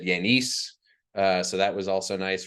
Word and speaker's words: Yanes: So, I mean, I've heard everything up to Yanus, Yanus, Yanes is obviously the most common. At my graduation, they said Yanis.